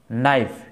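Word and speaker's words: knife: না এমন হচ্ছে কে কে ওয়ার্ডের শুরুতে কে এন থাকলে কে এর উচ্চারণ হয় না যেমন নো নো নাইফ নিট নেক নেক নেল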